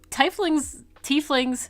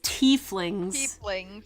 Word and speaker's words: tieflings: I mean, tieflings. Wait, we had this conversation. It's tieflings.